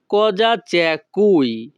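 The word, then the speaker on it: Cosa c'è qui: এখানে বানানের উচ্চারণটা একটু ব্যতিক্রম হবে। উচ্চারণটা হবে কজা চ্যা কুই।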